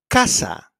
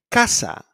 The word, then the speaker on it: casa: So it's pronounced like a K when it's followed by an A, O, or U, like in casa, coche, and cucaracha.